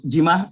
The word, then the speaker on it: Jimma: don't know what some some of may say jimma and some people so yeah what what is the right way to pronounce it or gemma i think jimma is right okay all right nice